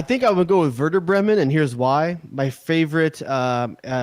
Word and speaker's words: Werder Bremen: beggin beggin chains right Werder Bremen you just like saying I'll be used like v's I think it's probably part of that Buddha Bremen Dave Redmon it's a W but it's pronounced verdict no honestly if